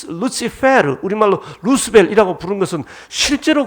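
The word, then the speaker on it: Lucifer: 지금 바벨론 왕을 이야기하면서 그를 가리켜 계명성, 헬렐, 라틴어 발음으로 루시페르, 우리말로 루스벨이라고 부른 것은 실제로 그런 루스벨의 계명성, 헬렐의 그런 상태가 있을 때 은유할 수 있는 거죠.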